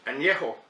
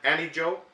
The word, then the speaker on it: Añejo: a beer the next type of tequila is Anejo tequila and that's the correct pronunciation it's not any joke because there's a accent over the end and